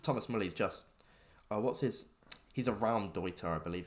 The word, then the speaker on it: Raumdeuter: I believe it's pronounced Raumdeuter. German.